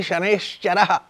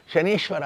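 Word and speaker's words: ಶನೈಶ್ಚರ: ಅದರಿಂದ ಶನೈಹಿ ಚರತಿ ಇತಿ ಶನೇಶ್ಚರಹ ಅವನ ಹೆಸರು ಶನೇಶ್ಚರ ಹೊರತು ಶನೀಶ್ವರ ಅಲ್ಲ ತಪ್ಪು ಭಾವನೆ ಅನೇಕ ಜನರಿಗೆ ಉಂಟು ಶನೇಶ್ವರ ಅಂತ ಉಚ್ಚಾರ ಮಾಡ್ತಾರೆ ಅಲ್ಲ ಶನೇಶ್ವರ ಮೆಲ್ಲಗೆ ನಡೆಯುವವ ಅಂತ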